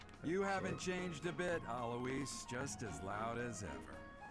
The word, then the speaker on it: Alois: That's not how I would have pronounced that name. I thought it was Alois, not Eloise.